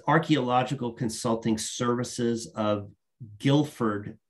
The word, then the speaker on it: Guilford: straight to hiring its archaeological consulting services of guilford not wilford g-u-i-l-f-o-r-d connecticut um i i've noted all of